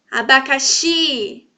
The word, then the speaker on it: abacaxi: Abacaxi, abacaxi. O X está de forma tônica, então ele é a sílaba mais forte. O X. E ele está em qual posição? Última sílaba. Última sílaba, tá certo?